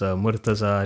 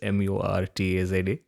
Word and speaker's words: Murtaza: So yes, my name is Murtaza Retiwala. It's Murtaza. For anyone who cannot pronounce it, it's Murtaza.